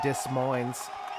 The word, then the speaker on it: Des Moines: i don't know why that guy didn't pronounce the s in dis mines either one of them